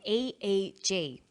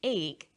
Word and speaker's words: EEG: or an acronym an eeg brain scan helps answer that say the swinburne researchers he says an e e g that's an abbreviation we don't pronounce it egg we say e e g e g stands for